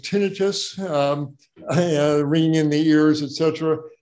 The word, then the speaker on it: tinnitus: um you're probably talking about a condition called tinnitus ringing in the ears etc and by the way the word is pronounced tinnitus not tinnitus so if everybody tinnitus means ringing like a